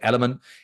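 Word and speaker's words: LMNT: spelled right L MNT but they call they pronounce it element l m NT right that's what I take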